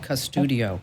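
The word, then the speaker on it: Qustodio: Another one is called Custudio, and it's spelled with a Q, Qsudio, Custudio or Bark.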